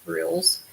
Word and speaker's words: Grylls: Grylls is Gryll apostrophe S, of course. Pretty sure it would be pronounced Grills, of his TV show.